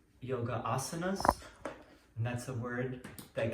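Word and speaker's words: आसन: But asana, it's really asana. You're gonna see why it's asana.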